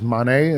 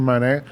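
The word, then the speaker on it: Mane: senegalese moved to canada his last name is monet m-a-n-e kareem monet but it's spelled m-a-n-e you tell me we couldn't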